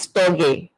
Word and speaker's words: storge: The first one is storge, and it's spelled S-T-O-R-G-E, and it means natural affection.